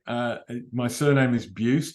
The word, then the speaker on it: Buist: have an unusual name uh my surname is bued it's spelled bu i s t if you Google